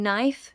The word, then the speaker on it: knife: In knife, the k is silent.